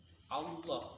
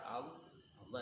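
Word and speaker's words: الله: Kecuali huruf lam yang ada pada lafaz Allah. Lafaz Allah itu kan yang pertama hamzah, lam itu kan. Allah itu membacanya tidak tarkik.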